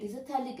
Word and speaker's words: phthalic: called as terthalic acid that is phthalic isothermal ph is silent here next consider different derivatives